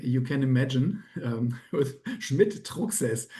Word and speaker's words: Schmidt-Trucksäss: Um, Schmidt Toxes. So that is the German pronunciation of that and but anyhow um and it's unique because um Schmidt is six nearly 6% of the German population.